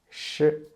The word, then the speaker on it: shi: Sh is an aspirated consonant, and you can almost find the same way as when we pronounce zh and ch. To make the sh sound, first, you need to turn up the tip of your tongue toward, but not touch the hard palate, please.